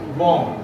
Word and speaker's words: bomb: बॉम्ब. वाचा बरं याचं स्पेलिंग काय आहे.